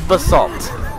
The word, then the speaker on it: basalt: be a salt know the correct pronunciation is basalt Oh by definition basalt